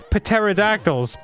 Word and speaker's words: pterodactyls: Pterodactyls. It's not a P word. It is. The P is silent.